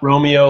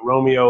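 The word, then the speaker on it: Roamio: it wrong Romeo not Romeo like the star-crossed level from Shakespeare's epic but Romeo like roaming around the TiVo Romeo is an OTA over-the-air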